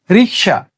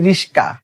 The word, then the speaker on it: রিক্সা: এরপরেরটা যদি বলি রিক্সা। শব্দটা কি? রিক্সা। কিন্তু আমরা বলি রিশকা।